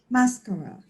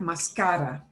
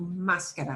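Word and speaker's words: máscara: it would sound like mascara. But the way we pronounce it disobeys their stress rules.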